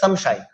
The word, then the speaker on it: সংশয়: যেমন যেমন সংশয়, দন্তস অনুসার তালবস অন্তস্থীয়, এখানে তালবস কিন্তু উষ্ম বর্ণ, এটি বর্গীয় বর্ণ নয়, সেক্ষেত্রে আমরা অনুসার উচ্চারণ ম করব। আমাদের বলতে হবে সংশয়।